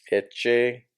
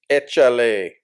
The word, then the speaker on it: échale: So Eche no, echa, ECHALE. A L E. Échale.